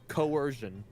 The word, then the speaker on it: coercion: those Co coercion yeah if you just imagine like the second C is s might be a little easier coercion I had to use